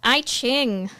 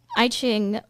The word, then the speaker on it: I Ching: I Ching. Oh my god, I Ching or Yijing, if I'm pronouncing that correctly, usually translated as a